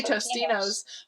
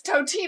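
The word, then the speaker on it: Totino's: I say Tostinos, but it's Totinos.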